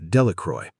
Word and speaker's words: Delacroix: Bobby and Harry Jones and Dickie Delacroix, the villagers pronounced this name Delacroy, eventually made a great